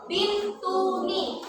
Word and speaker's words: Bintuni: Bacanya sekarang itu Bintuni.